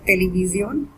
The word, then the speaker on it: televisión: When television is almost same in Spanish except with the pronunciation and a little accent over O, so it becomes televisión, and it's a feminine noun.